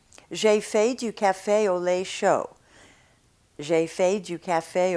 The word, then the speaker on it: café au lait: So remember, to correct this situation of diphthongs in French, hold your mouth organs very, very, very, very tense throughout the whole pronunciation.